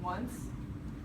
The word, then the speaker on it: once: And also another one, once. It sounds like, you know it starts with an O, but it sounds like it starts with a W.